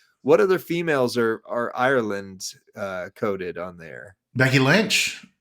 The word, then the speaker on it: Ireland: have bleeding green and it's in Erland not Ireland Erland that's how they say it in Ireland oh in Ireland they